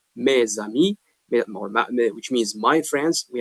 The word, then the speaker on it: mes amis: When we read, we must pronounce z sound, which is not written.